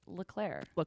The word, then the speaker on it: LEC: lick yeah lick Leck but it's just when it's when it's spelled out LEC but it's lir lir yeah um I think